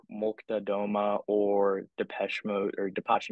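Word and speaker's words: Молчат Дома: Looking at bands like Molchat, Doma or Depeche Mode or Depeche Mode, sorry.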